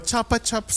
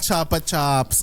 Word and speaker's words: Chupa Chups: Uy, pero Basta dito Chapa Chops siya. Dito sa New Zealand. Chapa Pronunciation? Chops. Pronunciation nila, Chapa Chops. Oh, Pero chocolate. same spelling. Mm-mm. Chupa Chups Same pa brand, din.